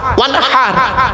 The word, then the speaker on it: ওয়ানহার: ওয়ানহার, এই গলার ভেতর থেকে হে এটা উচ্চারণ করবেন, ফাসাল্লি লিরাব্বিকা ওয়ানহার।